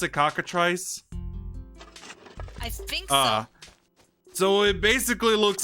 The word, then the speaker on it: cockatrice: oh there it goes again so is that pocket rice basically is that how you pronounce it boots Auggie now you pronounce it cockatrice ah so it basically looks like a basset